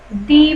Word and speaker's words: the: Vowel যদি ধ্বনিটা vowel হয়, ভাওয়েলের মতন সাউন্ড করে, তাহলে দি, আর কনসোনেন্টের মতন করলে দা।